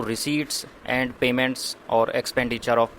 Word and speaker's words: receipt: रिसीट्स and expenditure. ये शब्द है रिसीट, RECEIPTS। रिसीप्ट से नहीं है, पी साइलेंट रहता है।